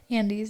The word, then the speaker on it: Andes: One summer, I decided to hike the Andes by myself. Is that how you say it? Andes, yeah.